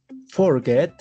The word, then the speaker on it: forget: Forget, la mayor fuerza de voz está en la segunda sílaba, duplicamos la última consonante y sería así: forgetting, olvidando.